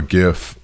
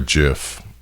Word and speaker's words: GIF: interchange file format so a gif or a gif depending on how you pronounce that gif stands for graphics